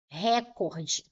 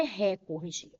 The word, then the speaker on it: recorde: Porque a maioria pronuncia recorde. Recorde. Ah, ele bateu o recorde. E não é recorde, é recorde. Ele bateu o recorde. Se eu pronunciar recorde, estou dizendo que a sílaba tônica mais forte é a antepenúltima, última, penúltima, antepenúltima. E aí eu vou classificar de forma errada. Vou classificar como proparoxítona. E não é.